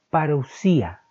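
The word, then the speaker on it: παρουσία: Esta otra palabra significa o se pronuncia parousia y se refiere a la presencia o venida,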